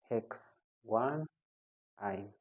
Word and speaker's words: hex-1-yne: That is pronounced as 4-cyclopropyl-3-ethyl hex-1-ine.